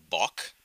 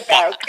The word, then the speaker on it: Bauk: Bach. Did I say it right? Hi there. No. No, you didn't. Sure. Bauk.